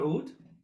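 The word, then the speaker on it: oud: it this way and you have an accent on the o sound in the beginning so oh so basically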